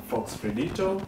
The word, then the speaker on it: Fox Fredito: Okay, when you look at it, when you look at it, it sounds hard, but when you pronounce it rolls off the tongue.